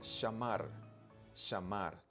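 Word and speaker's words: שמר: el verbo guardar que en hebreo se pronuncia shamar o como los israelitas usan la la gutural res y sale más o menos así el sonido sham sham está bien pero nosotros vamos a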